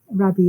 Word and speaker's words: Rabbie: a beautiful poem by rabbie burn so um Robert burn sorry rabbie is the Scottish pronunciation Robert B so um